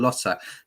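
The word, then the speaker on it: Lotte: one that would be i'm sorry i've said lottie instead of lotta see i don't do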